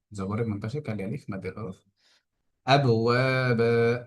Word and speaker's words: أبوابا: আবওয়াবা, এখানে ওয়াবের মধ্যে এক আলিফ টান হচ্ছে হবে, এবং বায়ের মধ্যে এক আলিফ টান হবে।